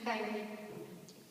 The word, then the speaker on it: Kyrie: But my mom chose to use the Russian pronunciation, Kyrie.